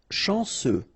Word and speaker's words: chanceux: Chanceux. Final X not pronounced. And then remember, C, E, U will give you this se sound. Chanceux. Chanceux.